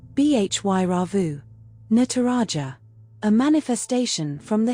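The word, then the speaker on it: Bhairava: Pronounced Bhy Rauvu.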